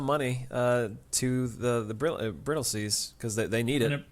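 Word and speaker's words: Brightlingsea: so so then we flash forward to the brittle seas and they say well the last time we solved our problems it's spelled bright sea but it's pronounced brittle sea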